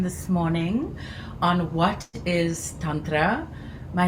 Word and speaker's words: tantra: The word is tantra. It's a soft t with t is tantra.